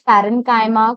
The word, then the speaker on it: parenchyma: Some students pronounce it like chyma, but it's parenchyma, collenchyma, and the last one is sclerenchyma.